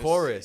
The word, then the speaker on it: Kouris: So this Chorus is the segment, sponsor. this episode is sponsored by Chorus. Chorus. Check Look at them this out. shirt. Not The cooties? It's pronounced chorus, like singing.